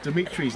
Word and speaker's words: Dimitry: And I'm going to let Maria pronounce Dimitry's name.